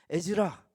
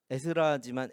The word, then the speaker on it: 에즈라: 에즈라. 자, 왜 제가 에즈라라고 읽는 줄 아세요? 네, 그것 때문에. 에스라지만 에즈라, 르헤미야, 에즈도 이렇게.